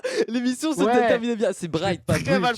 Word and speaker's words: Bright: l'as dit plusieurs fois que tu appelé Bridge et voilà et peut-être comment il a prononcé mon nom les gars l'émission se termin bien c'est Brights mal prononcer mais oui comment bright et et